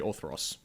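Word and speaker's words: Orthros: the planet how do you how do you spell that orth yes o r t h r o s orthos actually orthos orthos anyway the actual Planet itself is called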